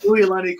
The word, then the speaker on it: Uilani: yeah, it's pronounced Uilani Ku'ule.